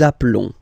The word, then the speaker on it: appelons: Okay, nous appelons, and then little link would be perfect, so let's pronounce the whole thing again. Nous nous appelons. Nous nous appelons. Okay, final S doesn't exist.